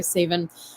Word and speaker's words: Savin: Savin My Love for You. That's how you pronounce my name, by the way, Savin.